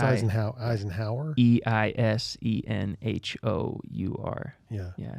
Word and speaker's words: Eisenhour: It's spelled Eisenhower. I know. Yeah. Yeah. Yeah. But it's Eisenhower.